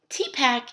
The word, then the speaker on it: TPACK: successfully integrate technology so T pack is technological pedagogical content knowledge you'll notice the a is missing the a was added at a later point to simply ease in pronunciation so older research older